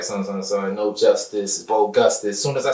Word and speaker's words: Gustice: My name Bo Gustice, right? That's why it's spelled like justice.